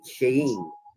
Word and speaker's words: Shin: The esoteric letter of the Aeon is Shin, pronounced Shein, closely related to the English word shine.